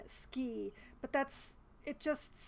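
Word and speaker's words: Skie: I know that the game wants me to pronounce her name ski but that's it just sounds really dumb to me so I call her Sky instead of hmm you know what never mind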